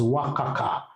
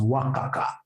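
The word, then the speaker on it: WACC: that M you should be pronouncing this as wakaka pronounce this as Waka wakaka know that is very unprofessional how do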